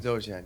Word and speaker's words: Dzogchen: Is that pronounced right? Yeah, Dzogchen. Dzogchen, yeah.